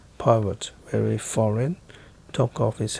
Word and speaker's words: Poirot: Monsieur Poirot. He corrected her with an emphasis on the last syllable.